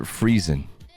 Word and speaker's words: Friesen: You pronounce it Friesen. Yeah. Yeah, I do.